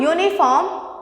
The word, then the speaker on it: uniform: Now when we are pronouncing uniform, okay, it is the sound which is coming out, that is a consonant.